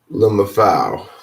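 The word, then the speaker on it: LMFAO: Lumfao. Lumfao. Lumfao. Lumfao. Lumfao. That's how you pronounce it.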